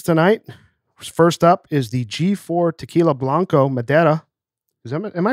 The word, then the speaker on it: Blanco Madera: First up is the G4 Tequila Blanco Madera. Am I pronouncing that correctly, by the way?